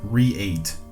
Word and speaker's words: reate: i think it says re8 it's spelled r-e-a-t-e okay like create without a c within